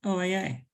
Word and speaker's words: OAA: So as Terry said, I'm going to talk about the Older Americans Act, known as the OAA, which people do not pronounce as OA, just OAA.